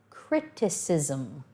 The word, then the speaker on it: criticism: separate them come across criticism notice at the beginning we've got the c making a hard sound criticism in the middle making a soft sound because at the beginning